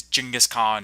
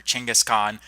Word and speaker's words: Genghis Khan: mongol of all time Genghis Khan also known as jingis Khan or Chinggis Khaan there is some controversy over how you pronounce his name now in this series